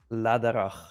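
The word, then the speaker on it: Läderach: If you want to say it like Swiss people say it, it's called Ladak.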